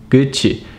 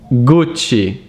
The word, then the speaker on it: Gucci: Gucci, that's how I hear it from Americans, but the right pronunciation is Gucci.